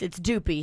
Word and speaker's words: duppy: Well, Dupe is the French pronunciation. It's Doopy here in the States.